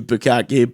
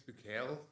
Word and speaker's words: Bukele: But yeah, if he's cleaning up the gangs, I know nothing about Nayib Bukaki, but he's actually a cool guy, so I lad. don't understand. He's badass. I think it's Bukele.